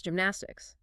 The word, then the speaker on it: gymnastics: The G tricks you into wanting a hard, guttural sound like in gum. Oh, right, because of the G. But it is actually a soft J sound, created much closer to the front of the palate.